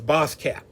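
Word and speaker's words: baasskap: boss cap now uh this is a dutch word and it's spelled b-a-s-s-k-a-p now boss cap basically not boss b-a-s-s means the same thing as boss in english which is b-o-s-s in other words the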